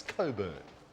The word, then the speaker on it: Cockburn: on time in Coburn not what you think not the way it's spelled it's Coburn hi I'm looking for Steve